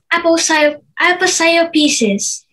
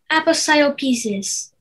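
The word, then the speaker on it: aposiopesis: pieces apple style pieces am i pronouncing it correctly uh not quite aposia pieces apostle pieces this is closer aposia pieces apostle pieces can i please have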